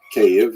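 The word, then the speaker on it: Kyiv: pitak opined that KV cave as it's pronounced today in the Ukrainian pronunciation cave was actually founded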